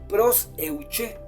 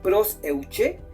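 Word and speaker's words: προσευχή: Hay una palabrita más que va acompañada de esta palabra, que es proseuché. Esta palabra proseuché es una oración general, es una oración generalizada cuando tú oras por todo.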